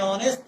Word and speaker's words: honest: And honest, why? H is silent here. Honest. It's not giving the sound of H. It is not honest. It is honest.